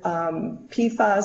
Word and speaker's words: PFAS: And their PFAS stands for per- and polyfluoroalkyl substances. It's pronounced PFAS.